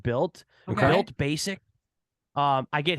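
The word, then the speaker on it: Bylt: to do it uh b-y-l-t built I think it's pronounced built okay basic um I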